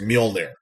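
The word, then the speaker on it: Mjölnir: Nordic J's are like Y's, I guess. So it's Mjolnir. Milnir.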